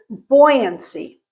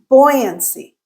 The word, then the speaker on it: buoyancy: The first word is buoyancy. Buoyancy. Notice, even in America, when you say the word buoyancy, you're kind of reverting back to the British pronunciation.